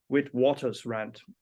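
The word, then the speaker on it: Witwatersrand: center of Indian studies in Africa University of with Waters rant is that correctly pronounced that's right that's right then we're good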